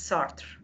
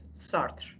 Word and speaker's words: Sartre: So today we'll talk about Jean-Paul Sartre, or in French we say it's Sartre. In French, this is the way we pronounce it, Sartre.